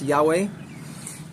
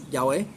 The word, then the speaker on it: Yahweh: is Hebrew letters in English they're YHW or pronounced Yahweh um Jehovah's Witnesses would say Jehovah, but it's Yahweh, something like that.